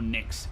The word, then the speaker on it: Nyx: Fun fact, Nyx is pronounced the same way as Nyx, which means nothing in Dutch.